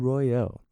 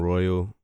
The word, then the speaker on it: Royale: I'm Royale. It's spelled like Royale, but I'm Royale.